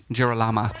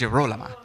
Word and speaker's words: Girolama: to Gesualdo is that we've been saying her name wrong for quite a while. So we're now yes, practicing. The whole first production, we were saying Girolama. Oh, yeah, no. But now Girolama. we know it's Girolama.